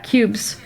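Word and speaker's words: Qubes: Yeah, cubes. Cubes? Q-U-B-E-S. Cubes. Rhymes with pubes.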